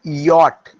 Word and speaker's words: Wyatt: Sir Thomas Yacht. We have to pronounce yacht. W-Y-A-T-T.